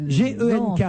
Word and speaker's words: Genk: Yann Moens, gardien de but belge du RC Genk en Division 1, un club que vous soutenez. Gent, c'est Gand, j'imagine. Ah, vous croyez? Bah oui, c'est Gand. Oui. G-E-N-K.